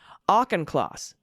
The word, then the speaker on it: Auchincloss: Jake Auchincloss pronounces his name Auchincloss.